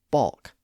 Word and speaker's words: balk: For example, we find this scenario in a lot of words that have the ALK spelling, like talk, walk, chalk, and balk. Of course, in that situation, we have the vowel letter A, then the L, and then the consonant K. And notice that in all of those words, the L isn't pronounced.